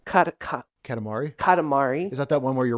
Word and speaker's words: Katamari: Katakatami? Oh, Kanakatumi? wait, no, hold on. Cut it to, Katakatami. I think Katamari? it's Katamari? Katamari.